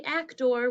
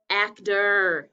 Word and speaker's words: actor: Second syllable looks like actor. We don't really say actor, we say actor.